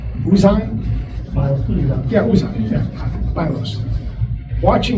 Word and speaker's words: Uzan: And watching, help me with the pronunciation, Uzan? Milos Uzan.